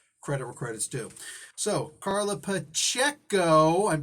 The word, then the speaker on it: Carla Pacheco: all that first credit where credits do so carla pacheco i'm pronouncing it right now she like literally did